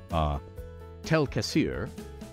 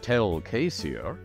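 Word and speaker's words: Tel'Quessir: the entire elven race, Tel Kassir, which it can also correctly be pronounced Tel Kassir, refers to the people. Tel Kassir or Tel Kassir. You can lengthen the A if you wish.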